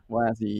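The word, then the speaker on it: WASI: this new exciting thing wazzy is that how you pronounce that yes yeah wazzy yeah web assembly uh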